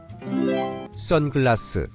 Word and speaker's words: 선글라스: I pronounce sunglasses as I would in English. Do not do this. Pronounce it with Korean sounds.